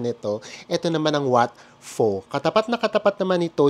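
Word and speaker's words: Wat Pho: Ito Sure na sure ako dito sa may pronunciation nito Ito naman ang Wat fo katapat na katapat naman nito ung Wat Aron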